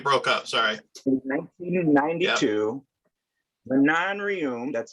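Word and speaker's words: Manon Rhéaume: In 1992, Manon Rioum, that's how her name is pronounced, Oh, first yeah.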